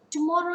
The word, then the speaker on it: tomorrow: falls on we meet tomorrow is a three syllable word and the stress falls on the middle syllable so here we can